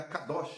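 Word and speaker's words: קדוש: A santidade ou a palavra santo vem da pronúncia hebraica cadoch, na qual todos nós sab sabemos, cadoos ou racid.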